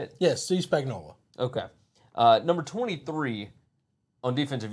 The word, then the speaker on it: Spagnuolo: Yes, Steve Spagnuolo.